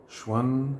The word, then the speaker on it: Xuan: I do have a lot of Chinese friends, but Xuan is an X pronounced sh. Xuan, Shen, Xian, Xuan.